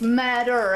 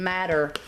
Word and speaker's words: madder: It's madder, actually, with a D. M-A-D-D-E-R. Ooh. I keep saying matter, like M-A-T-T-E-R.